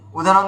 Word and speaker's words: উদাহরণ: যেমন আমি বলছি উদাহরণ উদাহরণ একদম নয়। তখন উদা হরণ তো উদা হরণই বলতে হবে।